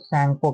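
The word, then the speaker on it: Tsangpo: China में इसको दोस्तो सको के नाम से जानते ठीक है टी साइलेंट है नाम से जानते और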